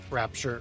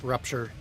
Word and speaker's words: Rupture: Like we got quite a bit done before that rapture. Rupture. Rapture. Rupture. Yeah, rupture. It's rupture, but I keep saying rapture.